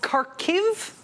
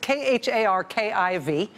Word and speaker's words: Kharkiv: city in Ukraine called Kharkov I don't know exactly how you pronounce it k har ki V Kharkov Kharkiv it's an eastern Ukraine it's